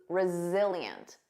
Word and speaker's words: resilient: I go number eight resilient notice that Z resilient resilient if someone is